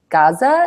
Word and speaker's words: Gaza: Was wounded as a result of a rocket attack while playing in his doorway in Gaza. Is it pronounced Gaza?